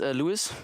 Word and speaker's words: Louis: And it's pronounced Louis, but I don't care about Louis, or I'm fine with that.